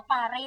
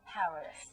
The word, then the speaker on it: Paris: คะ พอย ชวน เ ไม่ ออก เสียง ว่า ปารี่ นะ จ๊ะ ปารี่ ก็ คือ แบบ ว่า บ้าน ๆบ แ ถูก ต้อง แี Paris นะ ก็ เา เป็น ดอกเตอร์